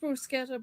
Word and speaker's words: bruschetta: I mean, it's pronounced brusqueta, but the accent is really funny.